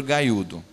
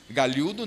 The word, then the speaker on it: galhudo: Em São Paulo se diz no interior gaiudo, né? Não, gaiudo. Galhudo não, gaiudo, que é para ficar uma pronúncia bem interiorana ali da região de Itu, né?